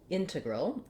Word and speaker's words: integral: let me be clear integral has first syllable stress and the letter e is a schwa and the letter a is also a schwa so that those both sound like a and they're very short and reduced integral integral if you